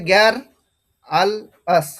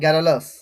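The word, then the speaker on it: garrulous: জি এ double আর প্রথমে গ্যার, ইউএল আল, ও ইউএস আস, গ্যার আল আস, গ্যার আল আস। মানে তুমি যদি ফার্স্ট কথা গ্যারালাস, এরকম আসবে গ্যারালাস, গ্যার আল আস, গ্যারালাস, এরকম প্রনাউন্সিয়েশনটা আসবে।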